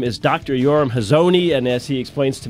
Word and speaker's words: Yoram Hazony: Yoram Hazony, and as he explains to me, that's my bad American-ish pronunciation of his last name, not the Hebrew one.